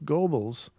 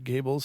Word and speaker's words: Goebbels: in quotes, came from Minister of Propaganda Joseph Goebbels, or Gables, I don't know how you pronounce that. Goebel, okay.